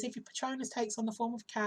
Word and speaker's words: Patronus: It's got there a bit about Patronus, which is the proper way to say it, Patronus, isn't it?